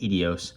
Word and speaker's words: Ideos: it's spelled i-d-e-o-s so it's not really clear whether it's idios or idios or idios but i'll go with edios for now it's a 110 or